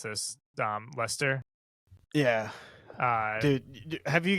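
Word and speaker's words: Leicester: Manchester City Chelsea I always forget how to pronounce this um Lester yeah uh dude have you guys heard about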